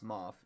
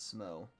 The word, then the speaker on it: Smough: It's pronounced Smough, not Smow.